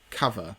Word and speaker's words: Cuvva: Now, when I saw the name, I was thinking, what does that actually say? Because it's spelt CUVVA. And obviously it's the kind of slang way of saying cover. And now I say that from a man who was born in the place where the word chav came from. So I can say it with the correct, the correct pronunciation of cover.